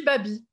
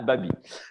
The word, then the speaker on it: Babi: Son premier roman s'intitulait La fin de Mme Babi, ou Babi ou Baby, dites-moi comment prononcer. Mais chacun dit ce qu'il veut. D'accord. Et vous dites quoi? Dis Babi. Ah, Babi.